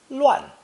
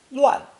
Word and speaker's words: 乱: It's pronounced 4th tone, 乱, 乱.